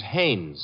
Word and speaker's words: Haynes: No, not Hines. Haynes. Couldn't be Huntingburg?